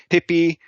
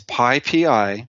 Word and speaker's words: PyPI: And it's pronounced PyPI, but I've heard so many people call it PyPy, Pippy, Pipey, PP. I've heard every different way of saying it. And I'm just going to tell your audience, it's PyPI, or call it the